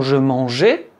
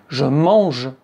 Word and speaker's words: je mange: Et oui, mais si vous dites : “Je mangeais”, c'est la la phonétique, c'est la phonétique de l'imparfait. “Je mange”. Avec “e”.